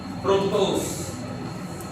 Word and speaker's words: fructose: Fructose. Sweetest monosaccharide. Ay, ikaw alam mo nakita mo. May babe ka lang. Fructose. Fructose is fruit sugar. Madali tandaan, it rhymes with fruits.